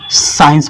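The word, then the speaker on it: science: ठीक है देख लीजिए जैसे यस के बाद यहां सी आया है ना तो ये सी आपका क्या है साइलेंट है देखिए इसको हम इस कहानी से नहीं पढ़ेंगे इसको हम साइंस पढ़ेंगे क्या पढ़ेंगे साइंस पढ़ेंगे सी को नहीं पढ़ेंगे क्योंकि ये आपका चैप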